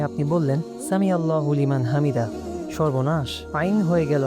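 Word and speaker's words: حمده: তাই রুকু থেকে ওঠার সময় বলতে হবে সামি আল্লাহু লিমান হামিদাহ। কিন্তু সামি আল্লাহু লিমান হামিদা সঠিক নয়।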